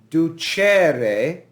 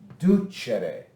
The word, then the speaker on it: ducere: e is short so we don't say ducere we say duchere du chere but if you look